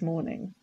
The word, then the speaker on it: morning: Now, people often confuse this with mourning as in the earlier part of the day. But as you can see, it's spelled differently. We've got mourning, but the pronunciation is exactly the same.